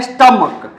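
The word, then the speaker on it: stomach: जो क हो जाए कभी कभी क्या होता है सीच का उच्चारण क्या हो जाता है क होता है तब ए जोड़कर पूल बनाएंगे जैसे आप दे सकते स्टमक इसको पढ़ते है स्टमक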